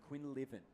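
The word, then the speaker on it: Quinlivan: Quinn. Quinn Living. Yes, thank you. I want to make sure I get that correct. Like we're living on the dream in WA.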